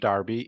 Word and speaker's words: Derby: originally brewed in in Darby which is spelled Derby but pronounced Darby England d-e-r-b-y and they